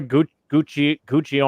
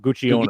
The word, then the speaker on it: Gugino: Carla Gugino. I'm gonna fuck her name up. Gugino or something like that. Gugino.